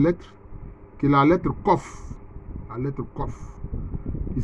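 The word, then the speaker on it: Qof: La 19e lettre, qui est la lettre Kof. La lettre Kof. Qui s'écrit avec Q-O-F.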